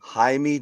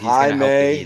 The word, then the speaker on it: Jaime: Jaime Jacquez. Jaime is so I got it. Is right? Isn't just another form of James? Jaime? Yeah, it's Jimmy.